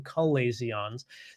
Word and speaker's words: chalazion: for you um you've had a barrage of chilesions and dry eye uh and you've never experienced them before so uh something if you've never heard of chalazions before or some people pronounce them calasions these are a blockage of oil producing glands